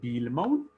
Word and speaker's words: Bu-Ilmawen: Donc, il s'agit de Builmaun, prononcé Bilmaun, qui veut dire l'homme